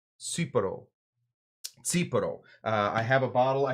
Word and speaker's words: Tsipouro: So the T makes a T sound.